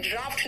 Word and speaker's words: draught: जो second word है ड्राफ्ट है, ये जानते हो, इसमें DRAUGHT प्रोनाउंसिएशन ड्राफ्ट निकल रहा है भाई। F कहाँ है ही नहीं, फिर भी ड्राफ्ट निकल रहा है।